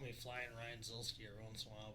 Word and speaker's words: Zielski: me to ask you, how do you pronounce your last name? Zielski. Zielski. How does Babbitt say it? Zielski. Yes. Yeah. So she's like, well, that's how they say it. And then she's like, I heard like 2 other people say it in the pits. I'm like, I think they're just like having fun with it. I don't think that's how you say it. So it is Zielski.